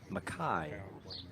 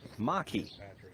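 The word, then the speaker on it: makai: fifth hole it's called maai sorry Maki I mispronounced it Maki and it means toward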